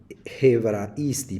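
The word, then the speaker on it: Ἑβραϊστί: Se pronuncia hebraisti. ¿Por qué? Porque tiene espíritu fuerte, que literalmente significa en hebreo.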